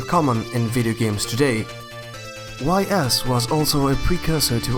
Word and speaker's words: Ys: In this year Falcom released the first installment of its popular, long-running Ys series. (pronounced: Ees) Besides Falcom's own Dragon Slayer series, Ys was also influenced by